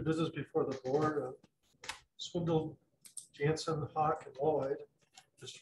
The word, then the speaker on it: Swindoll: famous uh pastor swindoll and uh but he's pronounced it swindle that's why he pronounced it yeah yeah he